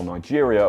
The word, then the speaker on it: Niger: It’s why we pronounce Niger The French way while Nigeria, a former British colony, is pronounced the English way.